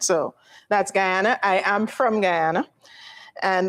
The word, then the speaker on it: Guyana: I don't know how to pronounce it. Gana Guyana.